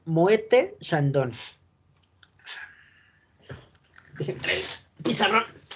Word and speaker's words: Moët: Pronunciación Moët Chandon. Déjenme traer el pizarrón. Si se pronuncia Moe, tal cual la palabra, recuerden que las T no se pronuncian, pero en el francés pasa algo muy curioso. ¿Dónde dejé mi plumón?